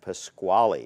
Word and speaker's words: Pasquale: is and was Dodie Stevens born Geraldine and Pasquale am i pronouncing that correctly pronounced very good and born